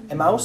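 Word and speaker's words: Emaús: Emmaus, sí, Emmaus.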